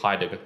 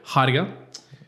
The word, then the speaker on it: Heidegger: How do you pronounce it? I think it's Heidegger. Heidegger.